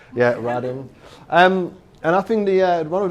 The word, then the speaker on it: Radim: This is how I pronounce it. It's Radim. Sounds like Adam.